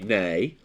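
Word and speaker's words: Ney: would be nay and there was a Napoleonic Marshall who was Marshall nay NE Y and so is heard tells you it's the way it sounds rather than the way it's spelled that matters so it's it's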